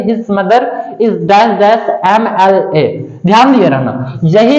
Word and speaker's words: MLA: दिया गया है his mother is dash dash MLA। ध्यान दिए रहना, यही है। अगर संक्षिप्त में लिखा जाए तो आप सबसे पहले उच्चारण समझेंगे।